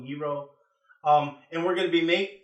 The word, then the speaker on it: gyro: We're also going to be making a tzatziki sauce, which is that traditional cucumber sauce that you get with gyro, pronounced Y-E-E-R-O, gyro.